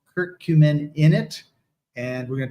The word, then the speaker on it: curcumin: Turmeric, the Latin name is curcuma, which gives the name to the alkaloid that's extracted from it, called curcumin, or curcumin, if you want to pronounce it that way.